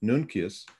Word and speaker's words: Nuncius: The topic is Sidereus Nuncius, or if you're into classical Latin, Nuncius. I will remain with Nuncius because it is the more familiar pronunciation.